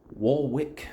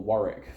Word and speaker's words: Warwick: converge on Friday in Warwick New York or Warick for people who pronounce things correctly um where there is